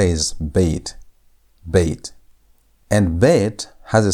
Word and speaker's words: bet: Our second letter is bait. Bait. And bait has a sound. Bait sounds like B as in boy.